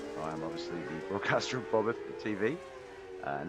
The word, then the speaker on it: Bobbeth: I'm obviously the broadcaster of BobbethTV, and that's how it's pronounced, Bobbeth, B-O-B-B-E-T-H, Bobbeth.